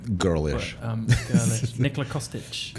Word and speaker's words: Nikola Kostic: Nikola Kostic. Nikola Kostic, yeah, yes. I pronounced that right.